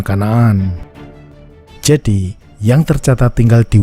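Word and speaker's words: كنعان: Wilayah tersebut dikenal sebagai Kanaan atau Kenan dalam bahasa Inggris, dan dalam bahasa Arab diucapkan Kanaan.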